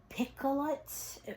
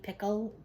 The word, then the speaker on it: Picoult: I've heard of the author, and it's Jodi Picoult. I don't even know if I'm going to say that right. Maybe you don't pronounce the T. Pickle.